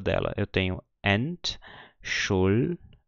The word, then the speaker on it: Entschuldigung: Eu tenho Entschuldigung. Ou seja, o G ele está acompanhado de uma vogal, U, então ele forma uma nova sílaba aqui. Por isso ele é pronunciado como se fosse um G normal.